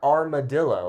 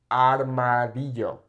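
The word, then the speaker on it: armario: look at later okay it's not armadillo or armadillo Dio it's armadio okay very very it's amazing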